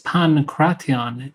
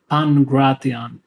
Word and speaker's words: pankration: Most of these are actually correct in modern Greek (the combination of Gamma and Kappa make a hard G sound, where in ancient Greek they made an N and K sound) so it's pankration in ancient Hellenic pronunciation but pangration in modern Greek pronunciation.